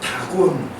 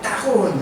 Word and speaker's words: 다곤: 이 다곤, 원래는 따곤 이렇게 발음을 해요. 히브리어로는.